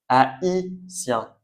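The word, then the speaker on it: haïtien: Et pour le I, donc on prononce i et il faut bien faire attention dans les mots où vous le voyez, on prononce i. Donc comme dans ma is a i sien naïf.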